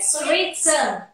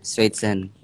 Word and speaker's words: Sweetson: Ya, sweet apa gimana bacanya? Sweetson. Iya, Sweetson. Ada susah ya.